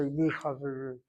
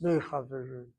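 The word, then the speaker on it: מחברים: The mem is pointed with a tsiri. not because the word Chaverim has a Chatapatra underneath the chet, it's because the letter laryngeal chet cannot take a Dagesh Chazak. So you can't say Mi Chaverim, it's Me Chaverim.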